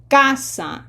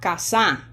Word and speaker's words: casa: It's casa, not kasa.